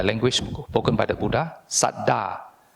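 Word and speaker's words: saddhā: The Pali word, the language spoken by the Buddha, Saddha. You pronounce it as S-A-D, Sat, and then D-H-A, Saddha.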